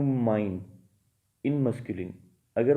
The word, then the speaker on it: mein: Articles बनाए जाएं, सो इश will change to माइन इन masculine. अगर वो मस्कुलिन है मीन्स मेल जेंडर की सेंस दे रहा है, so that will change to माइन, MEIN, माइन।